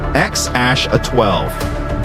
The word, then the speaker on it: X Æ A-12: Musk has said the intended pronunciation is X Ash A-12.